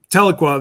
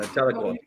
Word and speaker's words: Tahlequah: Tahlequah, that's it. yeah, Tahlequah. I didn't want to mispronounce it because you can mispronounce it easily.